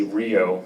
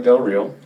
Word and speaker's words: Del Real: my name perfectly right A lot of people always mess it up and think I say Rio which is River but she said it right yeah my name is Daniel Del real uh I'm the curator